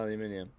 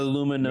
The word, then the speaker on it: aluminium: Yeah, aluminium. That's correct. Yes, it is. That's because not- Aluminum. Americans Aluminum. call it aluminum. Yeah, but that's Honestly, just I wrong. said aluminium for so long that I forgot how to